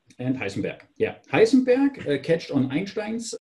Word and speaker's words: Heisenberg: ideas Heisenberg and pudding I pronounce the names of both in German because they were German guys Schrodinger and Heisenberg yeah Heisenberg catched on